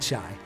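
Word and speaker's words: חי: And I had so many people write me in, hey, did you know that in Hebrew, or if you're Jewish, chai is chai, spelled the same way, which is life, and that's what we're celebrating.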